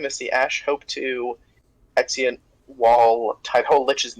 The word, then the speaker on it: Exeunt: Gateways is pronounced Exeunt. It's technically 3 syllables. It's Exeunt, yeah. Too hard to say the 3rd syllable, so. It's Latin.